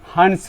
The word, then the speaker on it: Hund: Next हम लोग आते हैं हंस रूल। अब किसी किसी का प्रोनाउंसिएशन हुंस रूल भी बोलता है, तो हम यहाँ पर हंस रूल बोलते हैं, HUND हंस रूल।